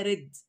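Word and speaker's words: read: هنا طبعا ريد مش ريد يقرا لا دي التصريف الثاني بتاعها اللي هي رد لان هي لو كانت ريت كان في المضارع الكلام كنا جبنا بعد هي اس في الفعل يعني تمام فهي هنا بتتنطق رد بمعنى قرا افهي واللي هو كان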